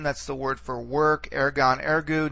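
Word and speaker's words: ἔργον: That's the word for work, ergon, ergu. Notice that the accent again stays on the first syllable all throughout the forms.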